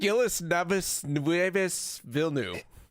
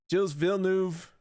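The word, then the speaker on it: Gilles Villeneuve: minute it was great i butchered it out of good fun paul um it's jill's jill's villeneuve uh speedway yeah i don't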